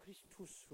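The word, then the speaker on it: Christus: 그래서 헬라어로는 그리스도를 크리스토스 이렇게 부릅니다만은 라틴어는 약간 발음이 다르긴 해요. 크리스투스 이렇게 하거든요.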